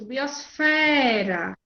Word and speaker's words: biosfera: Isso, biosfera. É a fé. Correto.